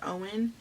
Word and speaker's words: Owen: about a guy named i called him ewan but in the beginning of the book she like puts pronunciation and his name i think it's owen she says but i always say you in whatever but um it's